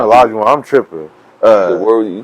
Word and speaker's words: Olajuwon: Yeah, Olajuwon.